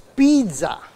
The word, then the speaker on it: pizza: How many of you say pizza? It's pizza. It's the second last syllable that has to be stressed.